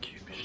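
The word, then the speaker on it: Kubiš: I've been told the correct pronunciation of Kupish today.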